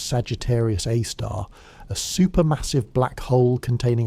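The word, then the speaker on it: Sagittarius A*: At the very heart of this nucleus sits Sagittarius A, pronounced Sagittarius A star, a supermassive black hole containing approximately 4 million times the Sun's mass.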